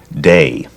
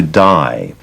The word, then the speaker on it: Dai: based in New York, his friends and people around him pronounced his first name Day. And when he moved to California, the pronunciation shifted to Dai.